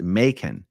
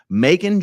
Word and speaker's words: Macon: It's Macon. I don't know, Venus Blue. It can be interpreted a few different ways here. Oh, rhymes with bacon. That's what I like to hear. Macon, Georgia.